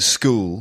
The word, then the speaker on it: school: And you don't say a shul, you say a school. Yeah. In fact, pretty much every word that begins with SCH in English is pronounced sk, except schedule.